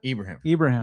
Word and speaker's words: Ibrahim: How do you pronounce it? Ibrahim.